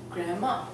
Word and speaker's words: grandma: So we're actually omitting the D and just saying grandpa or grandma.